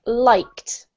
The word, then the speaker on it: liked: This one is pronounced liked. Liked. Yep. T sound in the end. Yes, this is one of the problems with English, Jose. Okay. This is actually a T sound exactly like walked.